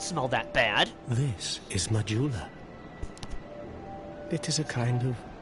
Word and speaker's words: Majula: Now we go back to Mahula. I know it's pronounced Majula, I just wanted to say it like that.